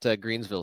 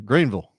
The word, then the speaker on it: Greenville: That was an interesting story, and can't wait to see that Greensville Stadium, the Rensen of soccer stadia. Yeah, Greenville, South Carolina. Greenville. You got to say it like that.